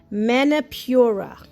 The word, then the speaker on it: Manipura: favorites, uh, the solar plexus chakra, which is pronounced manipura.